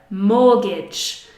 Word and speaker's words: mortgage: And finally the word mortgage, mortgage.